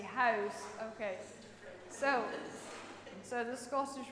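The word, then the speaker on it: huis: is a bit tricky house house the o sound is quite tricky house okay so so the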